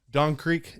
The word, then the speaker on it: Dxn Creq: Don Creq in the house. Yes, sir. Did I pronounce that right?